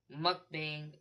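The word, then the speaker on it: 먹방: Mukbang can be phonetically approximated to mukbang.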